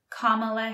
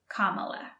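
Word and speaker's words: Kamala: States now kamla Harris comma Harris and be careful with the pronunciation it's comma what ocean is on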